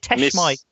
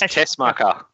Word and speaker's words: Tessmacher: Is it Teshmike? Miss Tessmacher. Yeah, that's it.